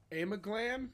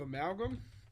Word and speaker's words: Amalgam: He was pronouncing it Amaglam instead of Amalgam.